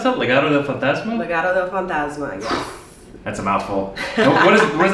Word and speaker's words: Legado del Fantasma: And how do you pronounce that? Legado Del Fantasma? Legado Del Fantasma, yes.